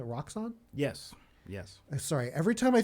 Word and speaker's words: Roxxon: As we've established, how do you pronounce it? Roxxon?